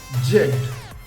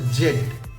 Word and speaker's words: Z: উচ্চারণ করি জেড জেড British English অনুযায়ী এর উচ্চারণ আমরা ঠিক করি সেটা হচ্ছে জেড আমেরিকান ইংলিশ অনুযায়ী এটাকে বলা হয় জি যেমন জেড ই বি আই জেড ই বি আর এই জেব্রা কিন্তু আমেরিকান ইংলিশ অনুযায়ী এই জেড এর উচ্চারণ হবে কি জি যেমন কি জি বাংলা